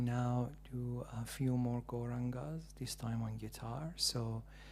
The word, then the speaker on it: Gauranga: Gauranga has 4 syllables. Go, Ra, Anga.